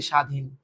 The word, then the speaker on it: স্বাধীন: কি এরপরের কোশ্চেনটা হচ্ছে শব্দের আদ্য বফলা উচ্চারণ হয় না আদ্য বফলা অনুচ্চারিত থাকে যেমন ধর এইযে স্বাধীন উচ্চারণ কর এই বফলা নাই ভ্যালুলেস এবার দেখো সম্মান সম্মান